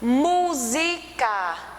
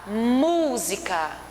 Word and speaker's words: música: verão verão então um grão ele é a sílaba tônica e o pé à tona a música música música então vocês percebem que um ele é